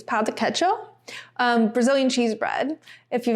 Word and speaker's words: pão de queijo: I think you say the J in Portuguese, pão de queijo.